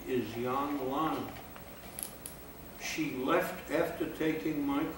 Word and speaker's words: Yang Lan: How do you pronounce the name again? Yang Lan.